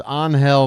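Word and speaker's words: Ángel: be it by the way another name I've mispronounced so far it's anhel Martinez on now to pinch hit for Daniel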